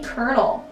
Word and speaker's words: colonel: Coming in at number 9, we have the Colonel. And I hate how Colonel is spelt colonial, like C-O-L-O-N-E-L. Like, where's the cur sound? There's no R.